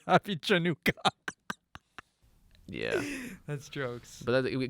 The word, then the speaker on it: Chanukah: spell it different ways, and like the C is silent. It's just if you just say happy Chanukah.